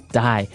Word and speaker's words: dye: you're dying it okay die so it's pronounced exactly the same way as you know to die to not live anymore